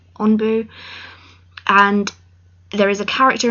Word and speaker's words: ANBU: SAS, and it's called Onbu, and they wear particular masks. If you don't know what it is, look it up. It's spelled ANBU, Onbu, and there is a